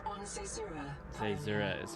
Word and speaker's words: Caesura: Caesura is how you pronounce it.